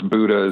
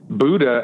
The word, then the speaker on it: Buda: Yeah, I mean, even living in South Austin, right next to it, I always thought it was Buda as well. But Buda, and then I never put two and two together.